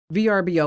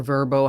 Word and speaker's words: VRBO: in bathrooms or bedrooms VRBO or verbo however you want to pronounce that they say no indoor